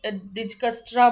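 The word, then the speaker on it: Dijkstra: Root calculation क्या है, each node uses डिजस्ट्रास algorithm, इसको डिजस्ट्रास बोल दीजिए। देखिए के अकॉर्डिंग टू मी मैं तो के साइलेंट रखूंगी इसको, डिजस्ट्रास कोई डिजकस्ट्रा बोल सकता, कुछ भी बोलिए, ठीक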